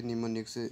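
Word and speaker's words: mnemonics: एन आई सी एस निमोनिक्स लिखने में यह ऐसा है लेकिन इसे प्रोनाउंसड इसमें किया जाता है यह देखिए सलर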